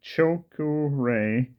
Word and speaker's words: chokurei: power symbol it's called chilku re pronounced Cho as in chosen KU as in coup and Rey as in Ray uh the choke array